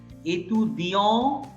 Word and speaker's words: étudiant: étudiant, étudiant। an এর পরে যদি একটা অ্যালফাবেট থাকে, if there is a single alphabet after an, then in 99% cases that single alphabet is not pronounced.